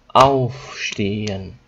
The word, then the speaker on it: aufstehen: If it's a German word, zum Beispiel auf, aufstehen. Okay, so the emphasis is on auf.